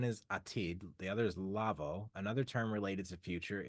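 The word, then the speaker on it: לבוא: Okay, so one is atid, the other is lavo. Another term related to future is pronounced lavo.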